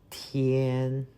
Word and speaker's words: 天: 天天天.